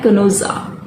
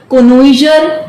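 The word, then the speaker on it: connoisseur: तो इसका प्रोनाउंसिएशन होता है कोनोसा। इसका सही प्रोनाउंसिएशन है कोनोसा। क्या बोलेंगे? कोनोसा। कोनोइजर नहीं बोलेंगे, है ना?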